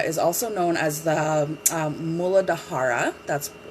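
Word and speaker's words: मूलाधार: the root chakra is also known as the mooladhara that's how it's officially pronounced they all have like their own sanskrit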